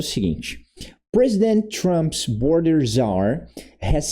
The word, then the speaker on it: czar: Mas os dois, a pronúncia vai ser czar.